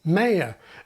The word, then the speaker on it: mayor: Then there are pronunciations that have shifted or are shifting to the American pattern, like two-syllable mayor and final stress on debris.